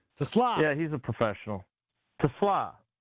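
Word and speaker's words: TeSlaa: Strofe, you're the Anyway, pronunciation guy. Tesla. Yeah, he's a professional. Tesla.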